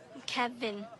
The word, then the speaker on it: Kevin: Kevin Kevin like Kev in I think I got it.